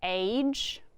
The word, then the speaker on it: age: The A is saying its name because there is another sneaky E, and sneaky E is silent. In the same box, we have it written in the same box because even though there's two letters, we only hear one sound, the soft G sound.